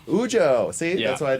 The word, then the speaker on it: Ujo: Did I pronounce Ujo. Ujo.